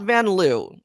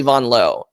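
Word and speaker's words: Vanloo: laughs at it but no like it's not vanl it's actually vanon L which is actually very easy to pronounce right instead of V an it's b o n and then like instead of Lou it's low like L right so right Julie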